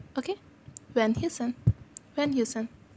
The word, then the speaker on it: Van Heusen: So, log isko Van Heusen bolte. No, it's Van Heusen. H is a little bit silent. Van Heusen. Okay? Van Heusen.